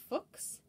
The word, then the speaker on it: Fuchs: uh nep nepo macavon fuchs a german chemist and mineralogist and his name is pronounced like i keep saying fox similar to the way that you pronounce books or looks so technically speaking it's